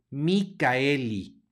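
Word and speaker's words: Michaeli: decir porque aquí en esta palabra realmente no hay diptongo por eso están las diéresis arriba de la a para señalar que no hace diptongo con la e por lo tanto se va a pronunciar la a y se va a pronunciar la e de manera que esta palabra se pronuncia micaelli micaelli la che No es una Che realmente suena como K la letra c porque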